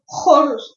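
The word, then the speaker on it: xoruz: Horuz. H sound. Horuz. Horuz.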